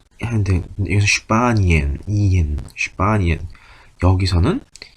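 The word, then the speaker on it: Spanien: 그때 S하고 T가 들어가는 건 슈투로 발음한다 라고 말씀드렸던 것처럼 여기서는 S하고 P도 스프가 아니고 슈프라고 발음한다. 그래서 스파니엔이 아니고 슈파니엔입니다. 여기서는 E하고 E가 붙어 있으니까 이 하는데 여기서 슈파니엔.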